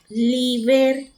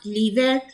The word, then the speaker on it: l'hiver: In winter, l'hiver, and it is also masculine, but H is silent in French. So it will take the rule of vowel L apostrophe H-I-V-E-R, l'hiver, the winter.